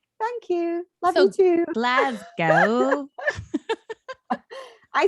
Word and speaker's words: Glasgow: I say Glasgow. Glasgow. If you're glass, your glass.